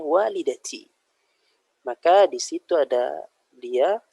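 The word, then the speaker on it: والدتي: Nggak bisa didomahkan walidatui jadinya. Nggak enak dibacanya. Dan orang Arab tidak ada yang membaca seperti itu. Mereka bacanya walidati.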